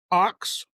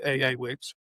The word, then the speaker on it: Aawks: Number 8, Ox, AAWKS. I know I told them I wanted to pronounce it AA Wicks, but their album Sky